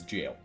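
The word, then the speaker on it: gaol: get in not even it's a British variant spelling of jail Oh literally pronounce that as jail huh weird you won't last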